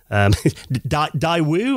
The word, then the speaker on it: Daewoo: That's it, Daewoo.